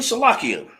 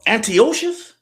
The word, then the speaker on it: Antiochus: Now, when we get to the king Salakia, and if I butcher the king's name, Salakia, but it's King Antiochus. I said it wrong.